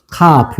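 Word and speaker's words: כף: 카프예요. 카프. 뭐라고요? 카프. 카프. 자, 카프는 렇게 씁니다. 카프. 자, 읽어 보세요. 카프.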